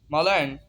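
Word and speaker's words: malign: पढ़ेंगे, साइलेंट हो जाएगा, इसे जी को हम प्रोनाउंस नहीं करेंगे इस वर्ड में। कैंपेन, कैंपेन जंगी कार्रवाई। मलायन, बदनाम करना।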